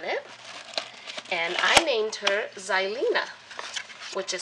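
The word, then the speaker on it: Xylina: once I open it and I named her zylen which is spelled x y l i n a my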